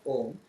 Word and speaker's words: Om: Yes, why Om only? It could be anything else. But why this A-U-M, when pronounced together, called Om?